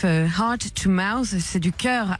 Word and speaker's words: cœur: I know, I heard that it's a bad word if you say it wrong, so it's like le cœur à la bouche. Otherwise, you say something else.